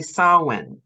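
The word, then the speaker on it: Samhain: a Halloween or whatever the Irish Sam Hein is how it's spelled yeah and it's actually sowin or salmon right every single time which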